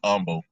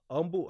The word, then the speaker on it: Humble: Humble, how you spell that? Like humble, Humble, but they call it Oh, Humble down here.